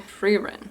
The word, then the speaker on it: Frieren: I've also been watching Frieren. So it is pronounced in like the Germanic way.